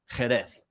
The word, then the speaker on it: Jerez: Well, my family from Spain. Yeah. Right? Jerez is pronounced Jerez.